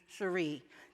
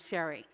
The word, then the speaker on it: Sheree: clear to me that the pronunciation of my name was going to be sheree not sherry and in this one